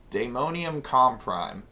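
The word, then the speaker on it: Daemonium Comprime: That's how you spell it. It's damonium comp prime.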